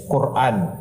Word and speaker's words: Quran: Iyung Quran na sinasabi the proper pronunciation is Quran.